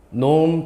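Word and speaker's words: norm: 안 됩니다 크기가 영어로 뭔지 알아요 이렇게 읽어요 놈 벡터 AB 이렇게 읽어요 정확히는 nome of 벡터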